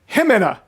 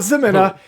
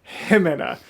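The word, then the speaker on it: Jimena: Himena. Why am I incapable of pronouncing animators' names correctly? Not Zemina, Himena.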